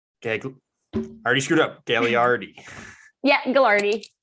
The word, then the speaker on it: Gagliardi: Gagliardi. Yeah, Gagliardi. So I'm the king of mispronouncing names, and I always feel terrible about it. I know the extra G there kind of throws everyone off, so no problem.